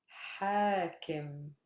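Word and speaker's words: حاكم: Hakim. Stress is on ha.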